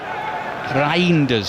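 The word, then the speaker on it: Reijnders: It's a tricky one cuz he sort of says Rinders, doesn't he properly uh in Dutch, so I'm I can't do it quite as authentically as that.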